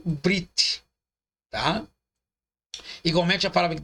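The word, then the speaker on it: ברית: Pronunciado como se fosse escrito brit, tá?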